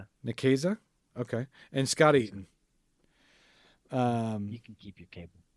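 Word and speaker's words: Nicieza: Is that how you pronounce it? Nikesa. Nesa.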